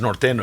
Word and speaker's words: Norteño: Yes, Norteño. Exactly. Uh yeah. I got to spell it out for the non-Espanol.